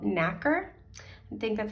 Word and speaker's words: nacre: So the mollusk secretes a substance called nacre. I think that's how you say it. It's spelled N-A-C-R-E.